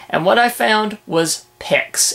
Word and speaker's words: Pix: Okay, as I said, I'm taking a look at Pics. That's spelled P-I-X.